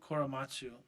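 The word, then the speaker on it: Korematsu: Koramasu Koramatsu.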